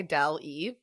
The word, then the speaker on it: Daly: I'm pronouncing it like Andy Daly. Or like the AI, Dal-E. Hey, yeah, just like that. It's exactly like that.